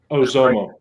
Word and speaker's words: Oxomo: Ozomo. Oxomo. Oxomo. Ozomo. In That's where I Aztecs, am X's are pronounced as Z's.